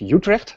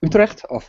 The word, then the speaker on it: Utrecht: you pronounce it as Utrecht, not Utrecht. Sorry. This is it's Utrecht.